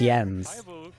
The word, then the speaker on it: Jens: okay bye tiny ends it's really end it's pronounced yens hello hello welcome thank